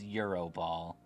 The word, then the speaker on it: Gyro Ball: But yeah, I I think if we can count gyro ball, we have to count roll out. They're doing the exact same thing. It's pronounced Euro Ball, right? I'm sorry. It's Euro Ball.